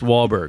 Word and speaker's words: Wahlberg: I think it's pronounced Wahberg.